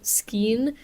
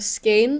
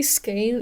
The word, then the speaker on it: skein: I've also been saying yarn skein instead of skein. Apparently skein is correct.